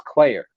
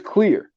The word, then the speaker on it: Clear: is clear I thought I always thought it was Claire but it's clear but like CLA so